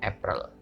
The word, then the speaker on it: April: ada juga yang berbeda meskipun tulisannya sama itu belum tentu bacanya juga sama ya contohnya april dalam bahasa inggris itu bacanya apple oke jadi teman-teman harus